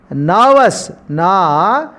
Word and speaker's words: nervous: Nervous. Nervous means we should not pronounce ra or ra sound. R is a silent letter, a silent consonant in this word, in the given word.